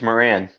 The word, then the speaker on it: Moran: which I press last name it's Moran Moran that's what I thought was one of pronouncing correctly Moran okay he's got two